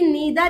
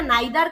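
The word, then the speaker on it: neither: अब बात यहां पर आती है कि मैडम इसे ईदर या नीदर करके प्रोनाउंस करें या आइदर या नाइदर, क्योंकि हमारे टीचर ने तो हमको आइदर नाइदर पढ़ाया था। आजकल आप लोग ईदर नीदर बोलते हो।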